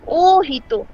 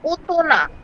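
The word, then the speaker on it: 大人: ও কি এর কাঞ্জি আর হিতো এর কাঞ্জি যখন আমরা একসাথে বসাবো তখন উচ্চারণটা এরকম হওয়ার কথা ছিল, ও হিতো মানে বড় মানুষ, কিন্তু আমরা এভাবে না বলে আমরা বলবো ওতোনা, দ্যাট মিনস অ্যাডাল্ট। ঠিক আছে?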